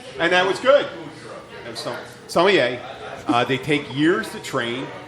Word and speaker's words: sommelier: But wines come up with and you have sommeliers. How do you say it? Sommelier.